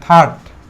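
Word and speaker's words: third: So consonant letter আর এর পরে থাকলে আরটা সাইলেন্ট থাকে।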